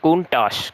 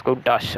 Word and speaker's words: Countach: from the uh announcer, Countach uh pronounced Countach. Countach, by the way, it's Countach.